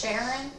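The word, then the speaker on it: Charon: Pluto has 5 moons, and there's one of them, I'm pretty sure it's pronounced Sharon, a moon named Sharon.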